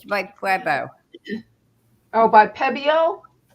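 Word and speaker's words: Pébéo: You pronounce the E. It's PBO.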